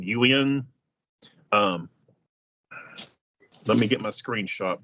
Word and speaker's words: Ewain: He plays Ewain. I always say it wrong. Ewan.